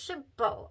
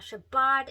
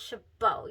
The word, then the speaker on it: Chabaud: pronunciation and this is Chabot I did look that up it is not Shabbat it is not shaboud it is Chabot you do not pronounce the d so I've been doing